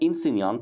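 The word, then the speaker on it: insegnante: ايه بقى طبعا عندنا انسان طبعا الجي سايلنت اهي في النص موجوده انسان ماشي معناها معلم عندنا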